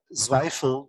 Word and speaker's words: Zweifel: name you know thank you my last name zweifel that you pronounce correctly uh is actually called oh wow